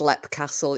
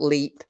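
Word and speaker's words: Leap Castle: it like that because it is pronounced LEP Castle it's not leap it's lip so well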